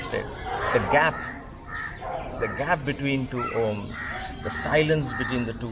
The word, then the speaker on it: Om: Now I'm purposely saying Om. When you do the Om, you don't have to do Om. No, just go with Om. There's a poetry in that. Okay, when we spell it, we know that Om has Akara, Ukara, Makara, A, U and Ma. But when you say it, don't spell it out like that. It kind of removes the poetry.